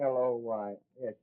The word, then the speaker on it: Aloysius: Yeah, spell that middle name right. It's Aloysius. Aloysius.